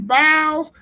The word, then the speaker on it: Biles: Man, his mama said the S is silent. His name is Raheem Biles.